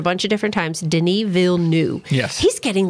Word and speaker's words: Villeneuve: we actually looked up the correct way to pronounce his name before we started this video, didn't we? Not? And it is Denis Villeneuve. Yes, we were. Denis Villeneuve.